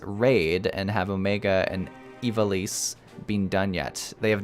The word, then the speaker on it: Ivalice: Ivalice is pronounced. You knew I was gonna have problems. Ivalice. Thank you.